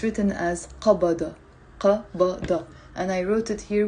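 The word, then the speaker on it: قبض: Now in the Lebanese dialect, we don't pronounce it qabada. We pronounce it abad.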